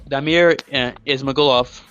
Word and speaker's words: Damir Ismagulov: That's Damir Ismagulov.